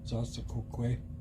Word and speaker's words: zaasakokwe: Zasakokwe. No? Yeah. Zas. There it is. Yep. Za. How's it spelled? It's spelled Zaasakokwe.